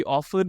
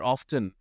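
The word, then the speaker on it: often: तो वहां पर क्लियरली लिखा हुआ है बॉस कि ऑफन और ऑफ्टन ये दोनों ही एक्सेप्टेबल प्रोनाउंसिएशन है।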